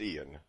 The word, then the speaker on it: Ion: Uh I It's spelled Ion, right? It's Ian.